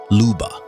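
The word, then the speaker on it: Lyuba: Meet Leuba, pronounced Luba, the most perfectly preserved woolly mammoth calf ever discovered.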